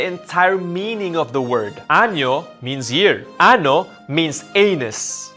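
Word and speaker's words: año: might change the entire meaning of the word anjo means year ano means anus felizano nuevo means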